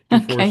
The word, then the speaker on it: Dufour: are kind of the Is it Dofer or Duour? I'm sorry. I probably mispronounced your name. I think D4 is fine.